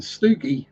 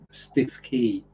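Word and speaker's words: Stiffkey: So I mean, places like Cossey or Tacklestone or Haysborough, they aren't spelt like they're pronounced. So you'll have people saying Costasey or Tackleneston or Happisburgh. And Stookie, well, that's that's just stiff key.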